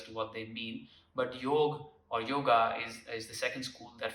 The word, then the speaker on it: Yoga: The second one is Yog, popularly known as Yoga, but Yog is the right pronunciation.